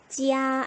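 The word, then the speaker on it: 家: 그러면 J, 지치시의 J였으니까 얘 지읒이랑 이야 붙이면 어떻게 될까요? 지야 라고 읽겠죠. 제1성이니까. 자, 이 녀석의 의미는 바로 집입니다. 지야 1성.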